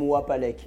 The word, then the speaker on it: Wapalek: Alors c'est Kassem Wapelek, je prononce bien? Kassem Wapalek. Wapalek. Oui, un W.